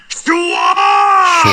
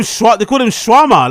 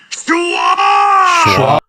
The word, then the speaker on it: Schaub: Brendan Schwab. Schwab fucked it up. But you picked up punching pretty. Well, they call him shawarma, like, as in like a Turkish dish.